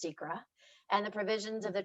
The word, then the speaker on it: SEQRA: Environmental Quality Review Act, SEQR, though it should be pronounced SEQRA, and the provisions of